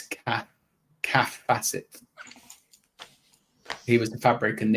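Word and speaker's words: Kaffe Fassett: It is pronounced calf. So it's cath calf facet.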